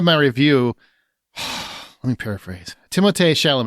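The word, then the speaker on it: Timothée: review let me paraphrase timot shalom it's actually pronounced Timo did you know that because he's French but some people want to call him Timothy I'm just going to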